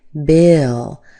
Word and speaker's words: Bill: Bill. And watch out for the I. It sounds like I, not E.